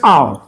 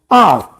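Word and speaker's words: hour: मैं बोलता हूं I will return with in dash आवर। अब इसकी प्रोनाउंसिएशन क्या होती है? लोग बोलते हैं आवर, कोई बोलता है आर, ये आर।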